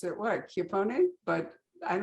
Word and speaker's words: Chiappone: My folks Americanized the name. They wanted to be Ozzie and Harriet, and so we just say Chiappone. But in Sicily, it would be Chiappone.